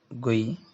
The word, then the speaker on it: GUI: browser interfaces graphical user interfaces interface and is pronounced gui it is a user interface that includes graphical